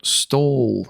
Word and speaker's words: Stull: It is a cemetery, and it's called Stoll Cemetery. That's spelled Stull.